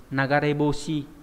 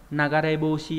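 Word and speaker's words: 流れ星: Ví dụ các bạn có từ nagareboshi, và đây bỏ cái chữ d đi thì đọc theo kiểu âm gì nhỉ? Âm onyomi thì đọc là ryuse nhá. Nagareboshi hay là ryuse đều mang nghĩa là sao băng, nhưng mà cái cách đọc thứ hai là trang trọng hơn, ryuse. Nhưng mà cách đọc nagareboshi là phổ biến hơn.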